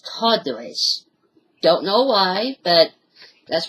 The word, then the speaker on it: Tartarus: I know that it's pronounced Tartaros, but I just say it as Tartarus.